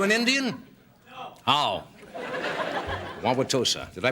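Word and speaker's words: Wauwatosa: indian are you an indian no ow why wanwatosa did i pronounce that correctly yes you did thank you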